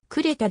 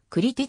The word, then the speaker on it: Κρήτη: 主婦はイラクリオ日本語ではクレカで定着しているが現代に立射語の発音ではクリティであるホメーロスのをデュセ